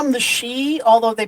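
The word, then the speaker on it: sidhe: that's the pronunciation is she but um it's spelled like s i d h e or something like that like city but it's uh pronounced she.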